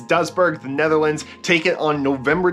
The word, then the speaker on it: Duisburg: a town called Duisburg, which according to Google, that is how you pronounce it. Duisburg. So we'll go with it. So it's Duisburg, the Netherlands, taken on